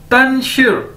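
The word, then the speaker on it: 但是: तो अगर इन दोनों को इकट्ठा कर दिया जाए तो ये बन जाएगा तन शिर, तन शिर।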